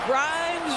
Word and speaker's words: Grimes: Grimes rhymes with dimes, on time right there.